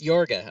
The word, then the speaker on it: Yorga: Oh, I keep saying George. Yeah, so it's Yorga. Okay. Many people don't pronounce it correctly. Yeah. We're just gonna do it this way.